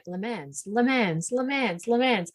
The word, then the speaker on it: Le Mans: have been saying it lemons you know when life gives you when life gives you lemons make it le more i literally have written my name to a city called le mans pronounced lemon and i still my